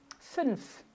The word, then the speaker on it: fünf: Mas a pronúncia é boca de U e se fala um I, ó. München, fünf.